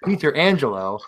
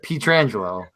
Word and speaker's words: Pietrangelo: I said Peter Angelo instead of Pietrangelo. I said like Peter Angelo before the podcast, and everyone's like, "Oh, unbelievable!" And I'm like, "Oh my God, it's like a one-syllable mistake because I'm just reading it quickly."